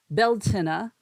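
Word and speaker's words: Beltaine: that happens pretty much every day but um beltina which is it's spelled b-e-l-t-a-i-n-e was a Celtic Christian Festival meaning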